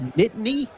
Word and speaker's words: Nittany: Are they the Nittany? Yeah, Nittany Lions. Nittany?